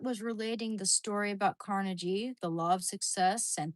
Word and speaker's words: Carnegie: Carnage rhymes with bikini.